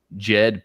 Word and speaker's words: Djed: And when you look into Ptah, and he had what was known as the Jed pillar. Now this is spelled Djed because they were Jedis, right?